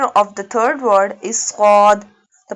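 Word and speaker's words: صاد: The first letter of the third word is sad. The pronunciation of sad is from the tip of the tongue touching the inner edges of the top two and bottom two front teeth.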